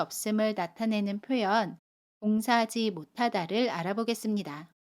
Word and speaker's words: 못하다: 못의 받침 시옷 뒤에 자음 히읗이 오면 받침 시옷은 받침 소리 디귿으로 발음해요.